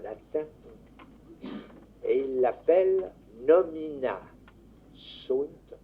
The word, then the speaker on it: sunt: Il énonce ça dans un écrit qu'il a fait en latin, et il l'appelle nomina sunt. On prononce sont en français.